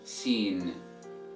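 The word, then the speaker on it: سين: And the way you pronounce this letter is the same way you pronounce the word seen in English.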